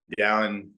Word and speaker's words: Dallin: Is Dallin. No one can pronounce it whenever I leave Utah.